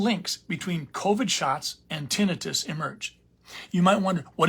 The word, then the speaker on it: tinnitus: people incorrectly pronounce it tinnitus but it's tinnitus I think the reason they call it tinnitus is they think of tonsillitis but anyway tinnitus is